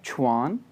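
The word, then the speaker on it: 全: एंड उसके बाद word है QUAN सेकंड टोन, तो ये प्रोनाउंस होगा छुआन, छुआन, छुआन कहते हैं होल को जी।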